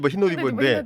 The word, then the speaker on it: 히노디버: 우리가 흰 옷을 입는다. 흰 옷 입어를 네. 빨리 빨리 발음하니까 발음해서. 히노디버인데 히노디버.